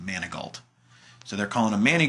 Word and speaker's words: Manigault: couldn't pronounce his name they called him Manny goat versus Manigault which was how it's correctly pronounced Manigault so they're calling a